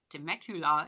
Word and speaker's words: Temecula: you don't know what a Temecula is and we rhyme with Dracula is to Mercury law